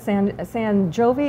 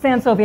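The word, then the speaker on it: Sent Sovi: Now, how long were you at San Jovi? Am I pronouncing it? Sensovi.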